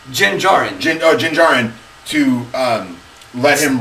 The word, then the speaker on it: Din Djarin: How do you pronounce his name? Din Djarin.